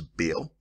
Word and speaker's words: Baal: Baal worship, in English is Baal, and in some some place in Britain say Baal. But this, I'm going to say, use the exact pronunciation that the Phoenicians and the Greeks use, Baal.